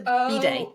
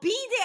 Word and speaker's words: bidet: the, like, there's a toilet and there's a bidet. Oh, bidet as in B-I-D-E-T. Yeah, how do you pronounce it? I can't think of how you mess up my brain now. I'll probably pronounce it bidet because I know it from French.